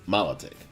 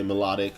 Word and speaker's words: Milotic: And first one of our honorable mentions is Milotic, or some say Melodic, or however you want to pronounce it.